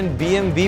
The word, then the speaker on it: BMW: इस कार पे काम स्टार्ट करने से पहले चलिए जानते हैं BMW के बारे में जिसका प्रॉपर प्रोनाउंसिएशन BMV भी होता है।